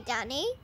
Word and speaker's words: dunny: Oh, I wish we could say dunny. Oh, yeah, why's that? I just like it. It rhymes with funny.